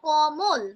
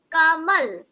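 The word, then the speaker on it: कमल: আমরা কি বলব বাংলায় যখন বলব তখন কিন্তু বলব কমল তাইতো কিন্তু হিন্দির উচ্চারণের যে ধরণটা সেটা সবসময় একটু ভিন্ন মাত্রায় হবে তখন আমরা কি বলব কামল কমল না কামল এখানে তোমরা বলবে আচ্ছা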